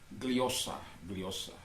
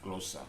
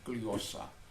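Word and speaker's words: γλῶσσα: Dalam bahasa Yunani dikatakan gliosa, atau orang sering katakan glosa, tapi pronunciation-nya adalah gliosa.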